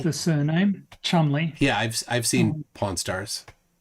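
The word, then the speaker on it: Cholmondeley: um in in the English yeah the name Chumley that you might have heard so like the surname Chumley yeah I've seen Pawn Stars uh c-h-o-l-m-u-n-d-l-e-y oh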